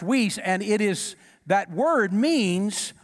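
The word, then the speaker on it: υἱός: but then there is a another word that's pronounced whis it's spelt h-o-i-s-e but it's pronounced whis and it is that word means a mature son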